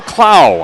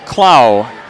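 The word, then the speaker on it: Clough: game her name is Tamiko CLA how's that huh c l o u g h and I did get a pronunciation from that so I got it from the Bulldogs too CLA picked up her first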